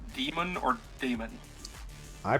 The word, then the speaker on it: daemon: as well be too he's always pronounced demon just spelled daemon yeah our our uh